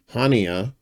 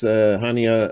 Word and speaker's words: Haniyeh: over there in Iran, Haniyeh. I think Haniyeh. I think it's Haniyeh is how you pronounce it.